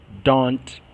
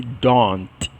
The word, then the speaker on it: don't: Don't. Ok? A pronúncia disto aqui, geralmente esse último T não se ouve. Quando vocês vão aprender as pronúncias das palavras, isso pronuncia-se desse don't.